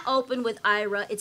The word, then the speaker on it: Aira: will not open with IRA it says you do not have an app on your phone name so you have to say era I'm sorry Paul yeah